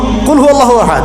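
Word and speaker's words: قل هو الله أحد: এটা উচ্চারণই বা কেমন করে করতে হয়? কুল, বলুন, হুয়াল্লাহু আহাদ, তিনি আল্লাহ এক। এই যে কুল হুয়াল্লাহু আহাদ অনেকে বলতে পারে না। কুল হুয়াল্লাহু আহাদ, এটা কি সব একসাথে মিলে একটা শব্দ?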